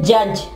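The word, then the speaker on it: judge: D silent होगा, खामोश होगा, सॉरी, डी जो है वो साइलेंट होगा, डी जो वो आवाज नहीं देगा, ठीक है। इसके एग्जांपल है जज।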